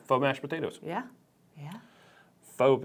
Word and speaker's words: faux: a cauliflower potato wish faux potato yeah faux mashed potatoes yeah yeah fob is spelled faux which is weird I would have liked